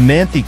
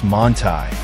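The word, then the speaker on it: Manthey: The Manthe kit, pronounced Montai, transforms an already formidable track weapon into something downright outrageous.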